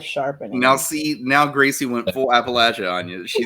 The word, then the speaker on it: Appalachia: And that's how you say it too, by the way. That's how you say it. If JD was here, he would say it's Appalachia. It's not Appalachia. Because we'll throw an apple at you if you say it wrong.